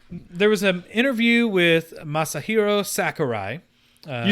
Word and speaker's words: Masahiro Sakurai: the gods so there was an interview with masahiro sakurai you said it right i did wow that